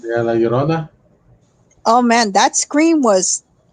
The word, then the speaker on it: La Llorona: Yeah, La Llorona.